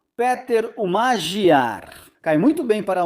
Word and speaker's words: Magyar: o do seu opositor, Péter Magyar ou Magyar. Me digam vocês qual é a pronúncia em húngaro. Péter Magyar.